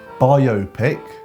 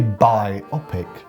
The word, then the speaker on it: biopic: it differently so um there's two common pronunciations of this word bio pic and biopic I know many people who say the word like this and it makes sense because when you look at the word normally let me pronounced like that but here's the thing if you say buy optic that implies the existence of two Optics where are the two Optics I cannot